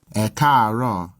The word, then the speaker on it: ẹ káàárọ̀: Note that if there's more than one tone in one syllable, then the vowel is normally written once for each tone. These 3 A's are all part of a single syllable, but with a high-low-high progression.